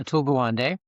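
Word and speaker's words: Atul Gawande: conference with um, I believe it was, uh, Aula Gawande. Am I am I pronouncing that right? Yeah. Atul Gwande.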